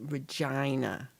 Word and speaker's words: Regina: We're getting Gary all sorts of Canadian werewolf in Regina. Rhymes with vagina.